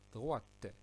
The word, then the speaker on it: droite: La deuxième remarque, c'est qu'on doit prononcer le T. Alors, droit se termine par la consonne T. Lorsqu'elle est au masculin, on ne le prononce pas T, mais lorsqu'on met cet adjectif au féminin, on doit prononcer T.